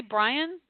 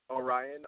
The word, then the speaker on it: Orion: Did you say Brian? Orion, O-R-I-O-N.